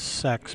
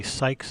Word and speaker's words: SYKRS: different answers we got supposedly the true pronunciation is sex but I don't want to say that they said we can say Sykes is also acceptable or psychers is also fine so I'm just going